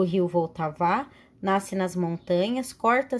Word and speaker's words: Vltava: Em tcheco se chama Vltava, pronuncia-se Vltava, que banha a cidade de Praga, capital da República Tcheca.